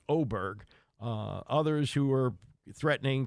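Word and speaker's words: Åberg: win over ludvik oberg it's spelled a RG but that's oberg uh others who were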